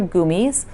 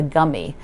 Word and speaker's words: gummies: is pronounced these are goomies if you learn to eat them in germany you pronounce them that way apparently a lot of you use you pronounce them like you're chewing gum like a gummy but that's not how